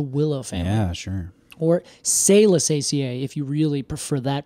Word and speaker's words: Salicaceae: Or Salicaceae, if you really prefer that pronunciation.